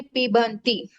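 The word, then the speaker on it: पिबन्ति: पीबतः, अन्य पुरुष बहुवचने पीबंती। पीबंती, ब का उच्चारण करना है।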